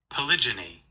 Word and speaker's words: polygyny: Pronunciation. Yes. Polygyny.